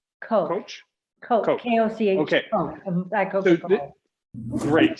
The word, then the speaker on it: Koch: Coach.